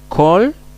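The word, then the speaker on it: כל: Por ejemplo, en la palabra Kol, la palabra Shorashim y la palabra Kodashim. Podemos ver aquí la Kametz, en este caso es una O en la palabra Kol.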